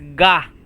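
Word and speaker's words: が: If you don't have this dakuten it is pronounced at ca. But if you have 10 10 right here it will be pronounced as ga.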